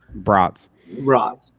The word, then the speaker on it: Brats: Brats. Yeah. Bratwurst. Yeah, that's exactly how I say it. It's pronounced like the sausage, not the doll.